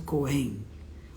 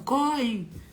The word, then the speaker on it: Coen: E se lê Ko-en, porque as palavras em japonês não têm sílaba tônica. As duas sílabas têm a mesma tonicidade. E algumas pessoas falam Koen, Koen. Não, é Ko-en.